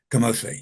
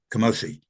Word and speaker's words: Kamose: How you pronounce it? Kamose? Kamose, yeah, Kamose, yeah.